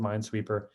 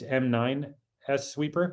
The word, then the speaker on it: m9sweeper: So we built m9sweeper. It's not spelled like M-I-N-E, it's m9sweeper, right? Kind of like people abbreviate Kubernetes, K8s, right? K8s, same thing, right? It's a kind of fun abbreviation.